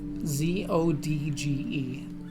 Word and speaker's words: Zodge: Zodge. Okay, Zodge. Okay. It's like Sag, except Zeo. Sounds like Sedge.